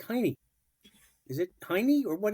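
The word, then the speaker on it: Jaime: James in Spanish iy Jays are not pronounced in uh Spanish so h h j a i m e it sounds like Hy is it tiny or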